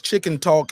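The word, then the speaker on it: Chicken Tawk: he was optimistic again that's chicken talk and it's spelled t-a-w-k chicken t-a-w-k and y'all can check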